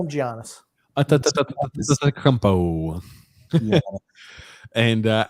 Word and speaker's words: Antetokounmpo: It's pronounced Antetokounmpo. Just call him Giannis. Antetokounmpo.